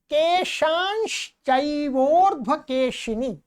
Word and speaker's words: केशांश्चैवोर्ध्वकेशिनी: नखान्दंष्ट्राकराली च केशांश्चैवोर्ध्वकेशिनी। क्या? केशांश्चैवोर्ध्वकेशिनी, यहां पर अनुस्वार है, ठीक है।